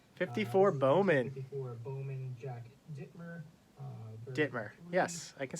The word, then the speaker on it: Dittmer: Dittmer.